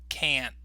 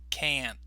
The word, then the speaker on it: can't: he'd cannot equals can't now notice I didn't finish the tea with this particular pronunciation so I kind of stopped on the tea but you can hear this part of the word more clearly so listen to it